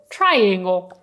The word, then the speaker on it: triangle: You probably said "Triangle" "Triangle", I don't know But this is a "Triangle" "Triangle" "Try" like "Provare", "Angle" (Angolo) "Triangle" So "Tr" It's not "Tr" It's "Tr" "Triangle" Now, talking about shapes